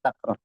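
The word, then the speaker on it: تكرار: irar atau takrar bel membacanya dengan takrar dengan fathah watri Fi aalili wa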